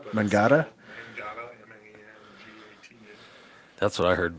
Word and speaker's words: Mangata: It's pronounced Mangata. But Mangata? Mangata, M-A-N-G-A-T-A.